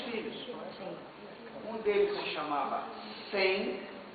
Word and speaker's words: Sem: Um deles se chamava Sem, e que também se pronuncia como Shem, né, em hebraico, Shem.